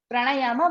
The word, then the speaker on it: प्राणायाम: जैसे प्राणायाम है, आप बोलते हैं प्राणायामा, क्योंकि स्पेलिंग में लास्ट में ए लिखा है, इसलिए आप उसको ना ए प्रोनाउंस करने लगते हो, ए प्रोनाउंस करने लगते हो, प्राणायामा।